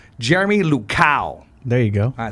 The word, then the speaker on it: Jeremy Luchau: We're here with 559 founder, the one, the only, I want to make sure I say his name right, Jeremy Luchau.